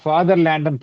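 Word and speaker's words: Vaterland: அது வந்து எப்படி ப்ரொனவுன்ஸ் பண்ணணும் அப்படின்னா ஃபாதர் லேண்ட்னு ப்ரொனவுன்ஸ் பண்ணணும். அது ஜெர்மன் வேர்டு.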